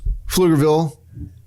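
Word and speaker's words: Pflugerville: all right so set the scene germantown texas flugerville right before the recession what was going on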